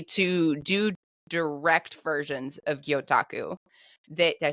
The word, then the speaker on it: gyotaku: assume that essentially to do direct versions of gyotaku that did I say it right M perfect